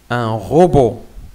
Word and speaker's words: robot: B plus O, beau, beau, un robot, un robot. La même chose, il y a un T, donc c'est une lettre muette. On ne dit pas robot, non, on dit un robot.